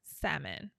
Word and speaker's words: salmon: not salmon it's salmon the L is silent salmon I don't know why